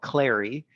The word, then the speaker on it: Clari: interact with the most is a product called Clary.